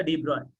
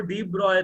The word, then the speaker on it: de Broglie: कौन सा de Broglie?